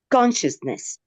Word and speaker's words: consciousness: This one first. Consciousness. Consciousness. Third. First consciousness. Somebody said third. Let's check. Exactly.